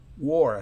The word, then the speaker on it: wore: Se pronuncia wore, así como la O casi normal en español.